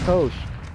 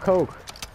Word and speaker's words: Koch: This might not be looking good for Koch. Or Coke. That's how you pronounce it.